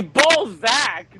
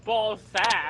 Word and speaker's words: Balzac: It's 2 words. It's Balzac, not Ballsack.